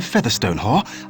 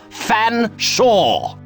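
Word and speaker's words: Featherstonehaugh: drink then what ex excuse me Mr Featherstone hore I presume I can't believe it no can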